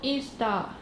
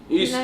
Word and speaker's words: Ystad: A place in Sweden called Ystad. Ystad, yes. Ystad, yes. Ystad.